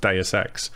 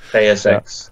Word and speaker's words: Deus Ex: Possibly Deus Ex. I've not really looked into too much. I'm glad that someone has said Deus Ex. Or Deus Ex, whatever. Deus. I used to say juice all the time, and Lou laughed at me